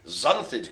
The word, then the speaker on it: xanthid: It begins with an X, but not pronounced X.